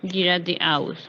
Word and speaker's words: geradeaus: Aquí es un caso donde es EA Sí. que pronuncia separado porque es compuesto, ¿no? Gerade es recto y aus es hacia allá. ¿Sí? Ujú. Geradeaus sería derecho en español, pero se pronuncia así, geradeaus.